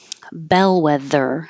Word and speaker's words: bellwether: leader was a synonym Bellwether and the th is voiced bellwether donut with the old